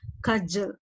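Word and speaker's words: cudgel: like a kajal kajal d is silent there you have to read as kajal do you do i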